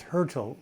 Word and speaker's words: Hurtle: My last name is Hurtle, rhymes with turtle.